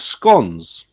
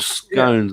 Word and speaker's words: scone: Here we make what's called scones or scones, as some people pronounce them.